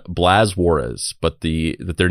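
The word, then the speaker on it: Juárez: And if you were to pronounce it the correct way, it's Juarez, but I'm just going to say it the white way.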